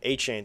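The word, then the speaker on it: Achane: A chain, thank you. I thought I was pronouncing it wrong.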